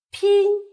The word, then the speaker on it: 拼: 拼，它的韵母是前鼻韵母音，拼，拼凑。